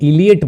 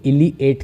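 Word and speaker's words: Eliot: देखिए जब हम इलियट बोल रहे हैं, इलियट, तो आपको लग नहीं रहा इलियट, इसमें 8 टाइप की फीलिंग आ रही है लास्ट में आपको प्रोनाउंसिएशन में, इलियट। आप इसको इलिएट करके बोलना, ठीक है। कैसे बोलोगे? इलिएट, इलिएट करके बोलोगे आप इसको।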